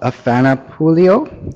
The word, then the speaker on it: Afana Pouliot: This is of Afana Pouliot.